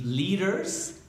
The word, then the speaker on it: leader: They need leaders, líderes, leaders. This is a difficult word. Alguien me está preguntando de una palabra difícil. La pronunciación de leader, porque la D es muy suavecita y eso es difícil.